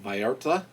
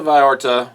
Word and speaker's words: Vallarta: I guess there's no emphasis on the L's. It's like Vallarta.